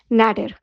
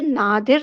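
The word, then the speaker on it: nadir: आज का जो पहला वर्ड है वो है नैडर। इसे नादिर नहीं प्रोनाउंस कीजिएगा, नैडर, नैडर।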